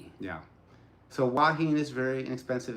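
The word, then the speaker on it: Hua Hin: willing to go like waheen otherwise you hear people online call it huahin it's not who it's waheen waheen so you'll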